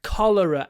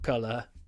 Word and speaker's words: cholera: A cholera outbreak. Not color. Cholera.